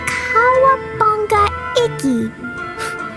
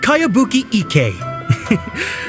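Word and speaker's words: Kayabuki Ikkei: By Kawabunga Iki. Yomiya, this is a really strange name. Who's this Kawabunga? It's pronounced Kayabuki Ike.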